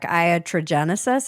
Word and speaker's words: iatrogenesis: Yeah, tell me about this word that you use a lot in your book, iatrogenesis.